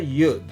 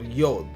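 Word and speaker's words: יוד: Here is the yud or yod. We say yod and yud are just one and the same.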